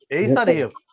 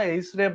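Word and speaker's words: href: আর এফ hyper reference আমরা কখনো এইচ রেপ বা রেপ এরকম কোন মানে প্রনান্সিয়েশন করবো না বা বলবো না উচ্চারণ করবো না আমরা কি করবো আমরা এখানে বলব এইচ আর এফ এইচ আরই এফ অথবা হাইপার রেফারেন্স মনে থাকবে এরকম করে বলবো কখনো রেফ বলবেন না বা এইচএফ এরকম বলবেন না হাইপার রেফারেন্স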